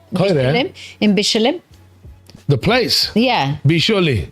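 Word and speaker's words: Bicholim: Bisholi.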